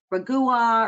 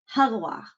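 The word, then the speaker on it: Régua: you want to say ragua or something it's actually pronounced hagwa believe it or not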